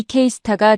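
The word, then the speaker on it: KSTAR: K스타라고 읽습니다. 한국이 만든 인공태양 장치입니다. 이 K스타가 최근 세계 기록을 세웠습니다.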